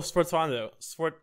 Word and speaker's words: sforzando: that's all one word, Sforzando, is like a Sforzando. That's how you pronounce it.